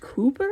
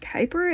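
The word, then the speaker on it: Kuiper: bit weird because like it's a Dutch name and like it's pronounced Cooper in Dutch and then in English we call it Kyper and it's just a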